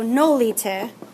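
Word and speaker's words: nolite: render that nolita right the emphasis is on the first syllable so nolita I did I need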